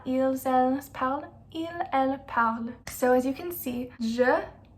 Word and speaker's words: parles: Tu parles, even though it's es, it's still pronounced the same as the first person. Je parle, tu parles. You don't pronounce the S at the end.